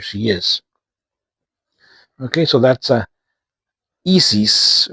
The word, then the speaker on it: ISIS: Let's start with this band, which is called ISIS, or in the Spanish pronunciation, it is ISIS, because this is a Mexican band.